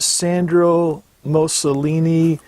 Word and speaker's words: Sandro Moscoloni: mention is this brand right here and it's pronounced Sandra most Shalini these are made in Brazil this pair here's